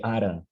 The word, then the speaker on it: aran: A mesma coisa para ara, forma geral para dia, tempo, que é aran, como a nasalização final no IMP do Amapari.